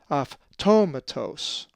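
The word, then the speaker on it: αὐτόματος: The accent is over the first omicron, automatos. Now let's pronounce this Greek word, which is the name Augustus, and is number 828.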